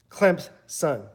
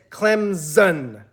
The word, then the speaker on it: Clemson: person tell him that there is no Z in Clemson and and you actually pronounce pronounce it more of the P Clemson if you're from the state of South Carolina or an alum or a fan hardcore fan of Clemson that's how you pronounce it clamps son and now when you